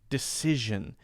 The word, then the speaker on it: decision: usually okay got it decision usually decision usually decision usually now notice that that last ass indecision is actually Z sound decisions decisions so that makes it even more difficult okay so we have